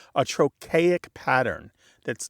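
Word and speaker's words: trochaic: One thing is we say those colors in what's called a troic pattern.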